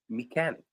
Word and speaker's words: mechanic: Mechanic. Mechanic is a word where CH is pronounced as K.